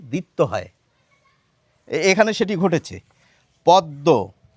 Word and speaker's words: পদ্ম: আমরা কিন্তু কিছু মানুষ বাদ দিয়ে প্রত্যেকেই প্রায় বলে থাকি এটি হচ্ছে পদ্ম। সংস্কৃত বা হিন্দি উচ্চারণের কথা বলছি না, আমি বাংলা উচ্চারণের কথা বলছি। এটিকে আমরা বলে থাকি পদ্ম। তো কেন এটি হয়ে গেল? আমাদের তো বলা উচিত ছিল পদ্ম, কিন্তু পদ্ম কেন বলছি?